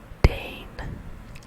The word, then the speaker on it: deign: unimpeded and all right dane dane dane which is spelled d e i g n d e i g